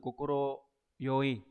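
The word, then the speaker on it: 快い: Số 4 là chúng ta có từ kokoro yoi.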